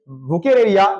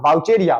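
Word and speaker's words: Vaucheria: उसके बाद आगे बढ़ेगा इट्स बुके एरिया नॉट वाउचेरिया बुके एरिया बैक type filarial worm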